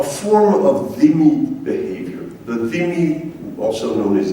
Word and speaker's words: dhimmi: The dhimmi, also known as dhimmi, but it's actually pronounced dhimmi.